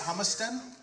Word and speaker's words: Humiston: And in 1871, Professor Ransom Humiston, is that how you say it, Humiston?